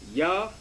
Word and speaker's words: Yahweh: That this seems to be the true Hebrew pronunciation of the divine essential name, Yahweh, and he has his name, the Yah, the Ha, the Wa, and the Ha, which is Yahweh.